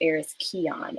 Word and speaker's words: Aris Kian: want to say um my name is pronounced heiress keon and that's on me because i know it's a weird like spelling so um and that